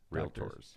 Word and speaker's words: realtor: Doctors. Realtors. Realtors. Two syllables.